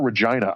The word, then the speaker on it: Regina: Is it Regina or Regina? I've heard it's Regina. Like it it rhymes with vagina.